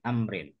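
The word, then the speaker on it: عمرو: sarahnya itu an Ibni Amrin. Jadi kalau Umar itu ada wawunya bacanya Amrin.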